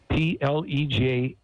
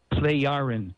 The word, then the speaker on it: Plejaren: Okay, well, these are the Plejaren, spelled P-L-E-J. The J is pronounced like a Y. Okay. Plejaren, Plejaren people.